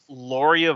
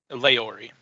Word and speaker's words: Leori: Correct me if I pronounce this wrong, Michael. It's Loria Voss? Leori. It's Leori Voss of Nadal.